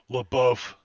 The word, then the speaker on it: LaBeouf: LaBeouf. Shia LaBeouf. I think the other guy. Pretty sure that the F is silent.